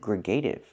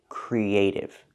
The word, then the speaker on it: creative: So she means to say creative, using the k sound with no voice, not g, but k, creative. When I link the E sound and the A sound, creative, I use the Y sound in the middle, Y like in yellow and yesterday. Creative. And the T makes a fast T sound.